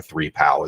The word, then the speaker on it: 3PAO: uh audit organization or a three pal is how we pronounce that 3pao Etc and they basically